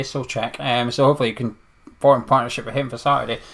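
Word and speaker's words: Souček: That's how you pronounce his name, apparently, Solček.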